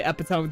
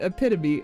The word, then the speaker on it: epitome: say it if you're not supposed to say epitone cuz that's definitely not correct I think I think REI pronounces it epome that's so funny yeah but it's the epitome um but yeah that's that's the definitely one